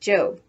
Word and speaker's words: Job: Ruth shouts 1-2-whee before going off to her job, which in the Bible is pronounced Job.